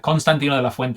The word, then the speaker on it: Constantino de la Fuente: Constantino de la Fuente is how you would say in Spanish, but it's hard to say sometimes with that accent.